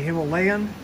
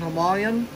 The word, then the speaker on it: Himalayan: I know here in the United States we say Himalayan, but where this come from in India, they say Himalayans. They live by the Himalaya Mountains, and it's less syllables to say Himalayan, three syllables instead of Himalayan, four syllables.